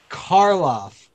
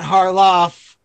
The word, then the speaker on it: Karloff: knew Boris Karloff yeah remember Karloff that's the correct pronouncing pronunciation not Harlow not harloff Carlos Nicole question number